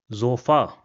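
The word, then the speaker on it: Sofa: Another example will be zofa. So you see again we have an emphasis on the a at the end.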